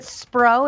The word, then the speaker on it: Spro: Actually, is it Spro? Is that how you say it?